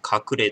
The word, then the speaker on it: 鶴齢: が、ね、格例と読みます。鶴の年齢と書いて、格例と読みます。